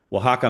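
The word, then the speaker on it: Oaxaca: happened is we were headed down to uh waka Mexico and it's spelled like okaka but it's pronounced Waka and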